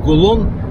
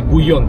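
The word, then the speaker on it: Gullón: вывеска видите написано ну большинство прочитает как гул он вообще 2л это гуй он читается по-испански и это очень известная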